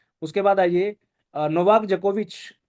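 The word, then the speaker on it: Djokovic: डी जोकोविच नहीं है, जोकोविच सीधा है, डी साइलेंट है यहाँ पे, ठीक है।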